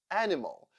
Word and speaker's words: animal: I as sound schw animal the second syllable is unstressed and that is why I sounds like uh therefore I I I animal president the second syllable